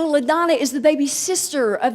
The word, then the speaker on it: LaDonna: It is LaDonna. It is not Madonna.